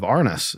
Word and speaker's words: Arnis: And that book was actually dealing with you're a practitioner of the Filipino martial art of Arnis. Am I pronouncing that correct?